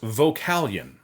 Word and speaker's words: Vocalion: Another question I've gotten on a couple of occasions, "How do you pronounce Vocalion?" The answer is Vocalion. It's not vocal ion, and it's not voca lion. It's just Vocalion. And so, now you know.